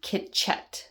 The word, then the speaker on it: Chicet: LA where I'm from called um Kitchette. That's how you say it.